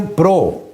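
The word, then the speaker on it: Prout: मुरति है फिर इसी पीरियड में एक और साइंस दन है जिसको कहते हैं विलियम प्रो स्पेलिंग लिखेंगे पी आर ओ यू टी मगर टी साइलेंट है पढ़ने में विलियम प्रो तो 1785 से 1850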